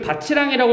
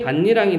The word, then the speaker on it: 밭이랑: 뭐가 있을까 반니랑 밭이랑 이걸 바치랑이라고 읽으면 안 되죠 이랑이 이거 밭에 가면 이란과 고랑이라고 얘기를 하지 그치 이거 명사거든 그래서 얘는 발음이 반니랑이 돼요 반니랑이 이제 시험이 되게 잘